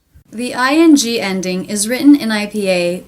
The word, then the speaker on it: ing: We also taught the American pronunciation of ANG and ANK, making the long A sound, like day and say. Ang, ank, like sang and sank.